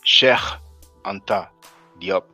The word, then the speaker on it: Cheikh Anta Diop: Now, I pronounced it Cheikh Anta Diop. People from Senegal will pronounce it Cheikh Anta Diop. They may pronounce the P or P sound as a B sound, but you know, who's in the place to be?